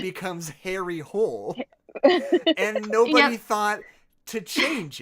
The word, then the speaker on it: Harry Hole: And the Norwegian pronunciation of that name would be Harry Hula, which not only doesn't